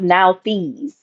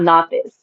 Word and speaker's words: Nauthiz: Meech um because and it's really pronounced Nauthiz, not Nauthiz. But um it's spelled like n a u t h i s, but it's basically like he had to be pressed.